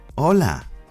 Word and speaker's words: hola: example copy my accent hola como estas hello how are you today hola como estas means today hola como estas and once again the h is silent you don't say hoy